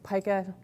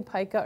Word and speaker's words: pica: And by the way, you can say pica or pica. It's kind of tomato, tomato. Europeans tend to say pica. Americans mispronounce everything, so they say pica.